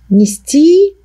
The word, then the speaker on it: нести: Далее, второе обстоятельство – это наличие глаголов, у которых в корне без ударения в инфинитиве произносится «и», а под ударением в форме мужского рода единственного числа прошедшего времени произносится «о», ну, а пишется «ее». Итак, инфинитив «нести», прошедшее мужское единственное «нес».